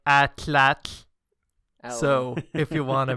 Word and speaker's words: atlatl: and I create an atlatl at what an atlatl and out of well a spear thrower Oh like the ancient Aztecs used to throw okay yeah it's actually pronounced more like at latch so if you want